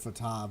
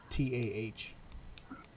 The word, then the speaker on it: Fatah: I did it Fatah, but it's Fatah.